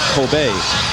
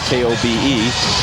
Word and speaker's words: Kobe: is popular in Japan, Coobe steak. Coobe beef. And eventually after they took the name from that K O B E, people started pronouncing it Kobe and that's what stuck.